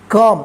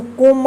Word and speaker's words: come: COME कम, इसको कोम मत पढ़िएगा, कम पढ़िएगा, ध्यान रखिएगा।